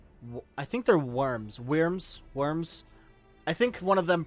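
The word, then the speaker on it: wyrm: to pro announce um the old english spelling was worm with a u which was a variant on y w yrm so i'm guessing it's been pronounced like worm since the very beginning seems like it's just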